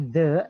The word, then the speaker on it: the: When you want to say the, ya, T-H-E, yang kata the itu dalam bahasa Inggris, it should be pronounced. Caranya, keluarin dulu lidahnya terus tarik ke dalam.